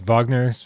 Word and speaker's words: Wagner: We've got kicking off Wagner's Ride of the Valkyries. I pronounced Wagner right, but I don't know how to pronounce any of these other ones.